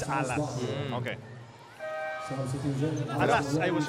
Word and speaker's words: Alas: game obach and apparently the proper way of pronouncing is alas it's alas okay alas I was